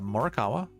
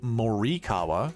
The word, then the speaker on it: Morikawa: Pearson Oren Pearson so it was uh murakawa or as the uh the elitist call say morikawa because that's how you're supposed to pronounce his name hahaha I'm scaring you